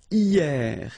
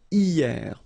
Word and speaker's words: hier: And then the first one is hier. Hier means yesterday, okay? Hier. So remember, this H here is not pronounced, okay? So hier.